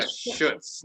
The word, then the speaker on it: Schultz: um the city manager jim schultz right that's his name jim schultz i think am i saying it wrong yeah shoots no well okay but he